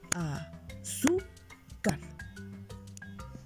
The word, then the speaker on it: azúcar: Lleva tilde en su. Y la regla de las palabras graves o livianas nos dice que se acentúa en la penúltima sílaba cuando no termina en N, S o vocal.